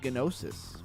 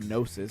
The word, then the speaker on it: Gnosis: So you have projects like Gnosis, or Gnosis, because I think the G is silent, right?